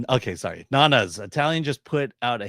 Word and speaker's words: Nonnas: From Glenuccio, Nonnas. Okay, sorry, Nonnas. Italian just put out a hit on Chris for that atrocious mispronunciation.